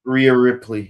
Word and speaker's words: Rhea Ripley: I mean, I don't care what's her Miss Rhea Ripley, if I'm saying it right. Rhea Ripley.